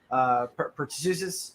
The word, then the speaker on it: pertussis: that word, jabs rates for children for measles, pertussis. How do you say that? Pertussis?